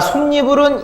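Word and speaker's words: 솜이불: 자, 솜니불은 이렇게 두 개로 나눠집니까? 나눠져야 돼요. 그리고 앞글자가 미음 받침으로 끝나죠. 그리고 뒤에가 이로 시작하죠. 발음해보세요. 솜니불. 이해합니까? 그래서 여기 지금 이응은 껍데기잖아요. 그 빈자리에 니은이 첨가가 되는 겁니다.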